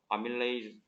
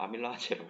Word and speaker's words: 아밀레이스: 천천히 일어나기 때문에 아밀레이스. 쌤 때는 아밀라제라고 배웠거든. 요즘은 아밀레이스 영어 발음으로 하는데 어쨌든 효소 갖냐는 맞죠 그러면?